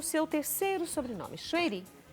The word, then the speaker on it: Choueiri: Choueiri? No Brasil se fala Choueiri, mas meu pai veio do Líbano, então o nome correto, a pronúncia correta seria Chouairi. Chouairi.